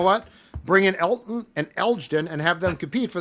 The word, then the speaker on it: Elgton: I thought it said just Elton. Elgton. There's a There's a rogue G in there. It's not Elton.